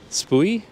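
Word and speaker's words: Spui: have one at SPO spoy how do you pronounce that SP UI it should be like SP but I think it's SPO I think some people say spoy anyway they have one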